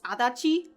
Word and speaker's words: Adachi: also I know that in terms of like how it's actually pronounced it's adachi but I'm so used to